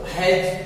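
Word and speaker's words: hedge: यहां प कट चुप ये बोलेगा नहीं तो हैज हैज मीस क्या होता है ड़ी जज मीस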